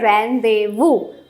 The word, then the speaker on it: rendezvous: now next is a rendezvous etu word to লিখুনতে বেলেগ লিখা যায় rendezvous লিখা যায় বাট এটু হৈছে rendezvous pronunciation-ত আমি pronunciation-ত z to pronounce নকৰো আৰু ইফালে s to pronounce নকৰো তো এটু বহুত